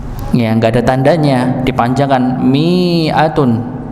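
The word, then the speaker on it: مِائَة: enggak ada tandanya dipanjangkan miatun. miatun padahal pendek bacanya. Kalau kita melihat mushaf apa mushaf Madinah biasanya kita temukan ada lingkaran kecil di sini yang menunjukkan dia dibaca satu harakat. Miatun. Miatun.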